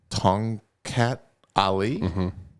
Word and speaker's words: Tongkat Ali: no you're fine okay how do you say this dude you did fine with it tongue cat that sounds good to me sweet so it's t-o-n-g-k-a-t